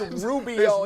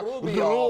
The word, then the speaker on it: Rubio: I said, stop rolling your tongue when you say his name around me like that. Yeah. It's Rubio, not Rubio.